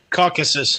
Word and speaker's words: Caucasus: pronounce this word here caucasus caucasus mountains there you go caucasus like caucasian how do you not